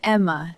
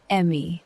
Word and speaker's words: Emma: But I'm Emma, not Emmy.